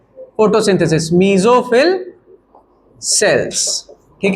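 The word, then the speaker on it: mesophyll: मीजोफिल cells. क्या बोलते हैं उसको? मीजोफिल cells. उसी में होता है। ठीक है? फोटोसिंथेसिस। मीजोफिल cells.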